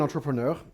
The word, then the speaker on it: entrepreneur: when you are an entrepreneur uh it's convenient it's a French World so I pronounce it properly uh you actually the